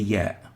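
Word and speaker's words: ياء: Now both the y and the ya are called the ya, named ya as in ya, ya, and pronounced as e as in feel, or ye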